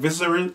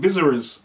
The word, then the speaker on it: Viserys: Is it Viserys? How do you say his name? Viserys. I wanna say his name. Viserys. I don't know. His name V-I-S-E-R-Y-S.